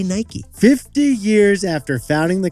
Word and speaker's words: Nike: or should we say Nike 50 years after founding the company he finally confirmed Nike two syllables make your favorite peanut